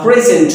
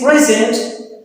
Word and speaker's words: present: If I use this word as a noun, then its meaning would be present, a gift. So the stress would be on the first portion, on the first syllable. Like, he handed over a present to me, a present. The stress is on the first syllable, present.